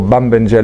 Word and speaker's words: Bambenjele: I had the good fortune of working with this group here, the Mbenjele, or Bambenjele, as you properly pronounce a plural in Bantu languages.